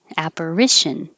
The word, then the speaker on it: apparition: operation this one apparition the a sounds like a apper and then ish apparition operation quintessential quintessential quintessential yeah